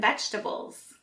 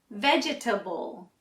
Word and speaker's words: vegetable: you say this word if you try to say it like it's spelled you might say vegetable but that's wrong this word has four syllables but we actually only pronounce three so we say vegetable we leave out the middle e let's try it together